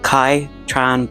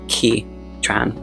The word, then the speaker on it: Ky Tran: Uh, and the main character is not called Kai Tran, but Ki Tran. I mispronounced her name, which is something that